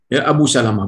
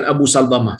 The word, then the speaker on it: Abu Salamah: Iya betul Abu Salamah Abu Salamah bukan Abu Salma silakan baik kesini Sule